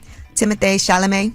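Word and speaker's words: Timothée Chalamet: shalam is that how you say his name Timothy shalam Timothy Timothy timoth because it has a little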